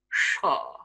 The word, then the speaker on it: shower: Shower. Shaw. Power. Par. Fire. Far.